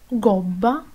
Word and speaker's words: gobba: es la g y se pronuncia G cuando está delante de la a o u gatto gobba gustare se pronuncia cuando la